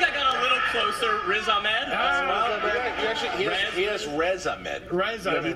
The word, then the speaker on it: Riz Ahmed: I don't know how to pronounce his name. Ahmad Razin?